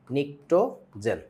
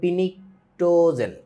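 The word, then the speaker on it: pnictogen: ওর expectation থাকে এরকম নিক্টোজেন ও যাইয়া দেখবে স্পেলিংটা এরকম সামনে একটা পি আছে ওতো এটা পড়তে য বলবে পিনিটোজেন পিনিকে উঠে যাবে এটা পিনিকের কিছু নাই এখানে পিটা হচ্ছে সাইলেন্ট সথিং পিনিটোজেন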